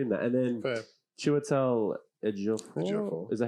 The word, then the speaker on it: Ejiofor: And then Chiwetel Ejiofor.